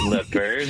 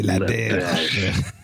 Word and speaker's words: LaBerge: I hit up Dom and asked him, I'm like, how do you say my name properly? I was like, is it LaBerge? And he's like, no. C'est LaBerge. Yeah, LaBerge. Yeah, there you go.